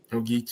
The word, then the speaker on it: Ogeechee: Ogeechee, yeah.